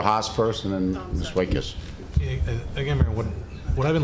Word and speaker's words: Waitkus: And I'm sorry, is it Waclusis or whatever your name is? Oh, it's Waitkus. Waitkus, okay. 2 syllables.